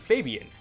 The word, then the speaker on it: Fabian: Another Yami-Yugi, Fabian, rhymes with Damien, which is my name.